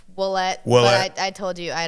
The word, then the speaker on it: Ouellette: been very enlightening for me with Emma oette olette olette olette olette like I said it's supposed to be pronounced wette but I told you I don't nobody does